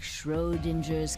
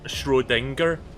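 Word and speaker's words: Schrödinger: me it's just like shro dinger's cat oh that's how you pronounced that I thought it was shringer your actions in the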